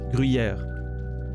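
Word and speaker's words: Gruyère: But it's not like a rolled R, it's not like gr, you know, it's really that, it's here that it happens. Gruyere. So, yeah. Je mange du Gruyere. That's how we pronounce it. It's like, it's so smooth, it comes out. It's a sound I don't think you guys have at all. Gruyere. Grui, like that U, Gruyere. Yer. No, Gruyere.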